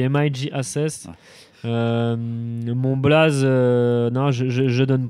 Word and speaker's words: MIJ Ases: Écoute, déjà, tu devrais le savoir, mais non, on dit MIG-Assess.